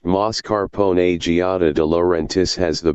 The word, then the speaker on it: mascarpone: tiramisu is mascarpone cheese mascarpone pronounced mascarpone Giada De Laurentiis has